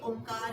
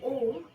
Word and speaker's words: ओम: तो हम यहाँ पर ओंकार का उच्चारण करेंगे, जो कि ओम, अ, उ और म से मिलकर बना हुआ है, और हम यहाँ पर ओम चैंट कर रहे हैं, तो ओ प्लस म का उच्चारण यहाँ होगा।